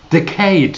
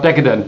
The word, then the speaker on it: decade: Do you actually realize that 2020 starts a very new decade? Is that the right pronunciation right now? Decade. Not decadent, decade, all right?